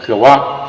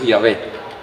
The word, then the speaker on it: Yahvé: En la enciclopedia dice claramente, Jehová, falsa pronunciación del nombre de Dios que debe ser Yahvé.